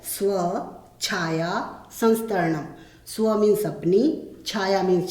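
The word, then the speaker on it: स्वच्छायासंस्तरणम्: बच्चे अक्सर इसका उच्चारण करने में गलती करते हैं, उसको तोड़ के बोलना है स्व छाया संस्तरणम।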